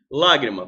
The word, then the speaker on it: lágrima: na regra dos oxítonas lágrima proparoxítona proparoxítona sílaba tônica é antepenúltima a sílaba mais forte nós temos três sílabas lágrima a sílaba mais forte lá é anti-penúltima agradável paroxítona terminada em